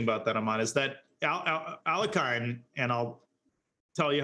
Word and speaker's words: Alekhine: interpretation works, will say Alyokhin. Alyokhin. Yep. But ALEKHINE himself apparently pronounced his name ALEKHINE, not a Y-O, but an E sound. So most Russians will say Alyokhin, but apparently he himself pronounced it differently.